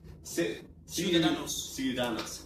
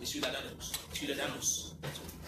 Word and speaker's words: Ciudadanos: Pronounce what? Ciudadanos. Thank you very much. Ciudadanos.